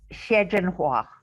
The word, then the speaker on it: Xie Zhenhua: It's Xie Zhenhua is how you pronounce it.